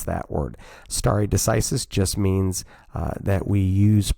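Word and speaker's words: stare decisis: is stary decisis which is what how you pronounce that word stary decisis just means that we use past is to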